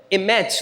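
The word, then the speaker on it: אמת: A gente tem que até dobrar um pouquinho a língua, né? Para poder falar, pronunciar, emet no hebraico.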